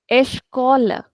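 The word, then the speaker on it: escola: So if this was a Hindi word sounds amount of stress or Portuguese stretch second last second last syllable typically esh caller.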